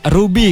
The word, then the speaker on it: RWBY: ruby itu hanya tapi rwby kapital semua walaupun itu bacanya ruby gitu dan ini tuh sebenarnya